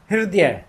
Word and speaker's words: हृदय: और द ये हम ये पढ़ते हैं, ये हमारा शब्द होता है हृदय। सही शब्द है, सही उच्चारण है हृदय, है हृदय, हृदय।